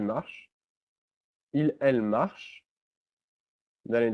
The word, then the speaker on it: marches: Notice that es is pronounced just like the e. The s is not pronounced, so it's just tu marches.